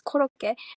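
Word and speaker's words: コロッケ: I think that's how you pronounce it. In Japanese it's korokke, and in Japan it's like a very common dish.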